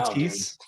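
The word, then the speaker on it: Theis: Yeah, I think it's Tice, right? Is it? I don't. It is because I'm German last name writer, so that's like the one pronunciation I can actually. EI is an I can rock.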